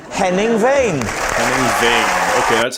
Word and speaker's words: Henning Wehn: Henning Wehn. Okay, that's how I pronounce it.